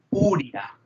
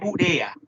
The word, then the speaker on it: urea: a Smith, Susan Smith, que no se pronuncia urea. No es urea, ¿verdad? Porque si fuera urea, ¿usted alguna vez han visto la palabra que es urea tildada en la U? Porque urea, ¿qué sería? ¿Qué tipo de palabra sería? Si yo pronuncio urea. Es urea.